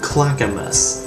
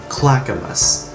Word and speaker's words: Clackamas: Okay, let's quickly go over this; Oregon (oar-eh-gun, not oar-eh-gone), Willamette (will-ām-it, not will-im-it), Clackamas (clack-uh-mas, not clakāmus). There, simple! It's not like trying to pronounce this , yes, that's pronounced "Wurster".